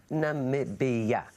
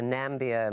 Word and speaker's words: Namibia: So let's talk about your country, well, why don't you share with the world how exactly you pronounce Namibia? Namibia.